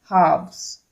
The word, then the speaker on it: halves: e s actually half halves so l is silent here remember that l is silent here you cannot say culves